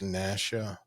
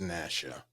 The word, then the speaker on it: Nacchia: actually like you do it's pronounced Nasha but uh I actually like that but it's pronounced Nasha you can call me